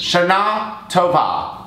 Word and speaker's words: Shana Tova: The second syllable of both words. Shana Tova to all who celebrate.